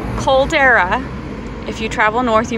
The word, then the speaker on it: caldera: into to the cad how do you say that Caldera cadal say it again Caldera Caldera if you travel North